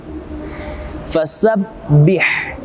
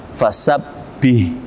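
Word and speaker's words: فسبح: Fasabbih. Jangan dibaca tebal seperti huruf H. Fasabbih. Tapi tipis.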